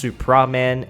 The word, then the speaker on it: Supraman: on screen cuz it it's pronounced very very closely to Superman but it's supraman s u p i